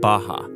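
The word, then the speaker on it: Barra: the west is a place called baja ours are pronounced like h in portuguese this is a new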